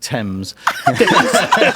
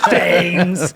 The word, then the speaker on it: Thames: Thames. Yeah, well, actually pronounced Thames. Thames.